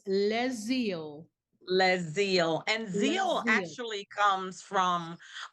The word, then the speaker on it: LeZeal: Le zeal and zeal actually comes from uh a scripture